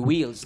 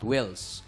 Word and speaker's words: wheels: ng yung iung Wheels it should be Wheels not whs long e ha Yun lang naman